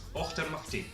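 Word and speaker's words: Auchtermuchty: you see HT y since Fife and it's pronounced after mukti no don't tell me that's not an amazing place name dr.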